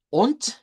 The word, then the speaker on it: und: Full, und, en el caso de und, esa se pronuncia en vez de T, en vez de D, con una T.